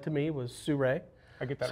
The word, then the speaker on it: Sirui: said to me was Sirui. I get that wrong all the time. Well, I get it said 100 different ways. Yeah, I always say Sirui. And I always think of sun and ray, and I just Sirui.